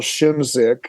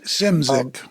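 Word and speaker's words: Szymczyk: Walsh stuff was Bill shimzick am I saying his name right yeah simsink or simzik I always say it wrong man with no vowels in his name yeah simsic and uh um oh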